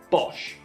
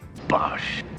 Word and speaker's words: Bosch: different types of machines to pronounce this brand name correctly simply say Bosh Bosh and last but not